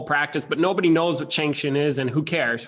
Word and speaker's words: Cheng Hsin: what that's random and it's spelled funny so like china trying to say that based on the spelling it looks like his sin and it's like you